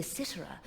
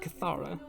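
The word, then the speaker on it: kithara: She sang and played the Citra, and her music was so holy that no demon could bear to hear it.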